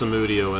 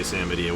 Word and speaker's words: Samudio: Edge, Nicholas Samudio, as it is officially pronounced, as far as I understand. But as we mentioned, Nicholas has given us the blessing to say Samadio.